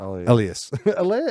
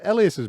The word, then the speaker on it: Elias: How do you pronounce his name? Not Elias. Elias. Elias's brother.